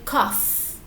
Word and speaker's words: cough: so you have a cough and you can use it as a verb and you can say i am coughing yes i know it sounds similar to coffee all right yes you